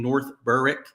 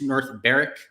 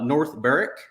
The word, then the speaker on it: North Berwick: ton of rain in North Berwick actually it's north Barrack it's the way that you say it there's no W in the pronunciation uh North Barrick up here at the